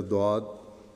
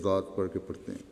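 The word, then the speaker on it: ضاد: Hazrat Musleh Maud (ra) said that, “the Indian people recite the letter ‘ Dhaad’ like ‘ Daad’ or as ‘Zaad’ “but its roots are different.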